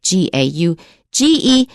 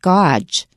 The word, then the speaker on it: gauge: And that's spelled G-A-U-G-E, G-A-U-G-E, but to me it looks like gauge.